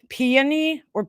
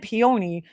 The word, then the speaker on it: peony: Anyway, 3 syllables. Peony I always said peony, but I'll never forget because my mom always said peony too.